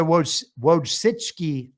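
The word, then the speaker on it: Wojcicki: Uh but the Witchki I think is how you say it.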